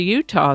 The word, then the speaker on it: Utah: Spanish explorers came along they simply pronounced it as UTA and that pronunciation evolved to the current pronunciation Utah this is the birthday